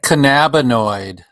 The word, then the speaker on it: cannabinoid: and that word is one of the hardest words to figure out which one is the correct way to say it cannabinoid can hemorrhoid um how about how about cannabinoid that's the way cannabinoid you like